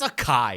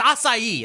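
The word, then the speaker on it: açaí: One of the reason why one of the reason why because I literally go, "What's a kai?" And you're like, "It's acai."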